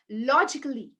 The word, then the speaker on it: logically: to pronounce this yeah do you say logically musically professionally no it's a goes silent a goes quiet it knows when to go quiet okay so where does it go quiet in these words it's logically logically there is no a sound here it's not musically it's